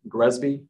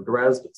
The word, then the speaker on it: GRESB: on the right uh you may have heard of gresby or graz i've heard it pronounced both ways but gresby is effectively